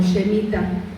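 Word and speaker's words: שמיטה: Esta palabra de descanso en el hebreo lo dice, o lo pronuncia como Shemitah, que es un tiempo de descanso, tiene que ver con reposo.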